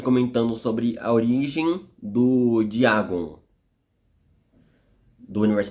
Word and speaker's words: Dagon: os poderes dele bom o diagon ou dagon como é dito é escrito na verdade aqui no Brasil porque se pronuncia diagon ele é um ser